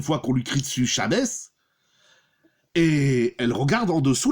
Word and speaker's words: Shabbos: Elle dit, Shabbos, c'est la prononciation du mot Shabbat. En chassid, en yiddish, ça donne Shabbos.